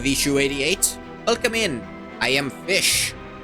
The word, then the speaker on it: Ghoti: I am Fish. Ghoti. It's pronounced fish.